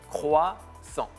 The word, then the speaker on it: croissant: So croix, and then A-N-T. We don't pronounce the last letter. Okay. All right. So it's croissant.